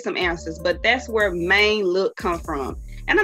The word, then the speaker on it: Mane: like what man or they say man when they say it back no it's maine and it ain't spelled like main street either sometimes your response